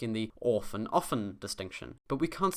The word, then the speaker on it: offen: On the other hand, this double F here makes the vowel before it a short O sound. Often.